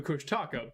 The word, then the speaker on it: Kushtaka: No, the Kush Taka, but Well, yeah. You know, I've been informed it's actually pronounced Kushtaka. oh, well, there we go.